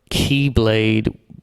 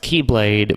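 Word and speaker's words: χ-blade: call the X-Blade, or Keyblade spelled like X-Blade. It's pronounced Keyblade, but spelled X-Blade, because spelling.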